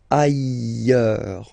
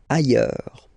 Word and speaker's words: ailleurs: Ailleurs. Look, final S not pronounced, and then you've got this y sound. Ailleurs.